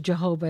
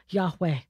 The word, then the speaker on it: Yahweh: Okay, some people pronounce it as Jehovah. It's not Jehovah, Yahweh.